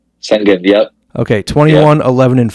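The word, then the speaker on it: Şengün: I'm not going to pronounce this right. Alperen Sengun. Sengun, yep.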